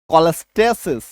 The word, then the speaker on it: cholestasis: CH plus OL अगर किसी शब्द में आ रहा है तो ऐसे केस में भी हमारा उच्चारण क्या निकल के आ रहा है, हाँ, ऐसे केस में हमारा उच्चारण क्या निकल के आ रहा है, क, ठीक है।